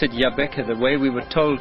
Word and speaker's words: Jabbeke: Africa that's that's correct and I see you pronounce it Yaba the way we were told to pronounce it it's not yabek it's y it this is John root yeah